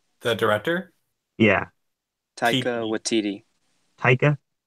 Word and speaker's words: Taika Waititi: Taika Waititi. Taika? Taika Waititi.